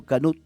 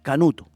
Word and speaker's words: Canut: Entonces, las primeras personas no podían pronunciar su apellido Canut, decían Canuto.